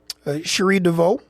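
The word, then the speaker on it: Cherie DeVaux: I just want to make sure that I say her name correctly and her horse Sheree Dvau first woman to train a Kentucky Derby winner with a golden attempo dead last to start the race.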